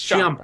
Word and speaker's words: Ciampa: Ciampa or Ciampi, how it's spelled. It's Ciampa.